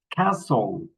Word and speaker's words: castle: Castle castle Christmas passen listen mash mortgage nestle often. Okay, we don't pronounce the letter t in these words.